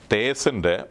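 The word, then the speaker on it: Teth: അതിൻ്റെ മലയാളം പ്രൊനൗൺസിയേഷൻ എന്നുള്ളത്, തേസിൻ്റെ പ്രൊനൗൺസിയേഷന് ദ എന്ന മലയാള പ്രൊനൗൺസിയേഷൻ ദ.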